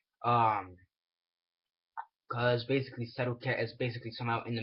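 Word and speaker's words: Setauket: protect the city of sedat I believe how you say it's the name set Cat s e t a u k e t um cuz basically settat is basically somehow in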